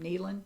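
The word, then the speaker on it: Neilan: So it's the Weathered Shawl by Tiff Nellian. I think that's how you say her name. Nealon.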